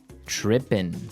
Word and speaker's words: tripping: As you notice, it's trippin'. It doesn't have the G at the end, which isn't really grammatically correct, but that's kind of the way it's pronounced. Yeah, we would never say the G.